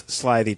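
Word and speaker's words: slithy: me how to pronounce slyy toes the eye in slyy is long as in R and Toes is pronounced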